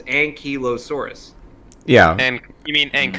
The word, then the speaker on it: ankylosaurus: Mason I'm look at merriam-webster and it says ankylosaurus yeah and you mean Inc high-lows well the